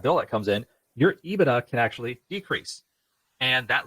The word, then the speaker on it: EBITDA: And the answer is, I guess, technically yes, I am saying EBITDA correctly, but I don't trust that I'm saying it correctly because who knows?